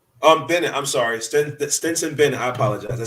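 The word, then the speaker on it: Stetson Bennett: They did lose, unfortunately, John Mechie the third towards ACL, and then Benson. I said his name wrong. Bennett. I'm sorry, Stinson Bennett.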